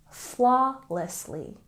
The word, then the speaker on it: flawlessly: with your lips sound and flawlessly we stress the first syllable flawlessly flawlessly and another linking word